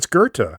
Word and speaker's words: Goethe: It's Goethe. Goethe. Goethe. But in the movies, she says Gotha, and this is something that Connie Towers talks about in her interview. She says, "Sam, I'm sorry, it's pronounced Goethe," and Fuller says, "I